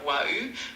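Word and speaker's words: waouh: In French, wow is pronounced like waou with a smooth and rounded oo sound.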